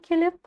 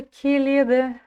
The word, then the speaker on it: келеді: Главное ударение будет стоять в слове келеді на второй букве Е. Келет. Гелет. И если вы слышите букву Т в конце, то это тоже верно. Но пишется келеді, а читается келет.